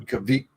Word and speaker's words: Caviezel: It was Jim Caviezel. Jim Caviezel. Is that how you say it? Caviezel.